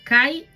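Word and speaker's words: χῖ: En Romanos 14, 13, 21, Pablo organiza sus pensamientos en la forma de un quiasmo, basado en la letra griega chi, pronunciada kai y escrita.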